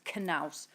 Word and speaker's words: Knaus: And I'd called it Naus, but I know it is Knaus, and that's how they pronounce it, obviously, in the industry.